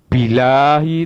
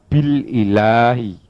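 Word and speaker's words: بالإله: Ilahun, al ilahu, ketika diawali dengan satu huruf, misalnya bi, Anda tidak bisa membacanya bilahi. Bilahi tetap dibaca bil ilahi, karena hamzah di sini hamzah qati.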